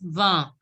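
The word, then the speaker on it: vingt: And 20 is pronounced as va. Wow.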